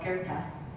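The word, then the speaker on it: Goethe: famous saying and it's by a philosopher called guerta which is uh that's how it's pronounced g-o-e-t-h-e and i'm just gonna give you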